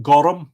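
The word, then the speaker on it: gorm: Other words like Bolg with a secret extra syllable: Barbara, Folav, Lanav, Marav, Jarfa, Donacha, Shelig, Jarug, Aragad, Dorka, Colum, Anium, which is name, Gorum, which is blue, isn't it?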